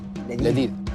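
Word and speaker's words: لذيذ: Ladid. Ladid?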